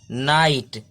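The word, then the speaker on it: night: नाइट, नाइट यानी यहाँ पे GH आया है, GH, तो इसको GH को हम पढ़ेंगे नहीं हैं, इसको नाइघट नहीं पढ़ेंगे इसको।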